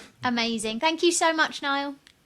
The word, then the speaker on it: Niall: So Nile Nia Al um not mainly mispronounced but yeah um yeah Nile on LinkedIn and accidental marketer in the tagline or whatever you call it.